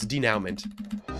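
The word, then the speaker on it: dénouement: Also, you're pronouncing it wrong. I figured I was. Denouement.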